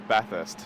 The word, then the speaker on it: Bathurst: you can uh so the way we pronounce it is Bathurst so like sort of bath first yeah is okay if you break it up into two so it's just bath and then Earth so it's the way